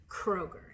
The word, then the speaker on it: Kroger: It is from Kroger.